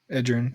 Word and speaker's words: Edgerrin: Peyton Manning, Edgerrin, how do you say his name? James and Marvin Harrison, yeah. Edgerrin James.